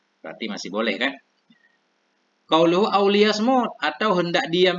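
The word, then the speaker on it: لِيَصْمُتْ: Qauluhu auliyasmut, atau hendak diam ia bifathil ya'i, bacanya dengan fathah ya, lias, wa dhammil mim, dengan dhammah mim.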